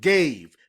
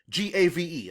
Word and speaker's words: gave: Well, if the final E is not at the end of the word gave, it will be pronounced gav. But the final E tells the reader that that vowel sound, A, should be a long sound.